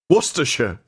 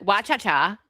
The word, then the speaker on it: Worcestershire: Worcestershire. It's easy to say when you say it properly. Remember how Dan says it? Worcestershire. Do you remember how Dan says it? Wa-cha-cha.